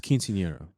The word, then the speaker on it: quinceañera: It's quinceañera for the record.